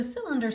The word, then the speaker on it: cylinder: on this one okay so cylinder starts with a soft C and you see it has the ER in it okay cylinder a cylinder